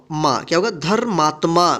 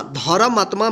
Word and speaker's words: धर्मात्मा: आर करेगा ठीक है धर्मात्मा धर्म आत्मा मत पढ़िएगा इसको धर्म आत्मा मुंह धक ता